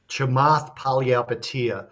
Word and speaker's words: Chamath Palihapitiya: Chamath Palihapitiya.